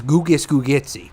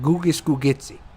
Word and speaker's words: Gugus Gugitsi: If you don't know, his name's Gugus Gugitsi. That's how you say it. Gugus Gugitsi.